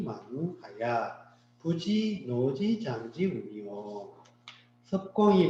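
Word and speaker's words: 葉: 이제 이거는 엽입사기라는 뜻을 쓰는 엽인데 그 땅 이름이나 성으로 쓸 때는 섭.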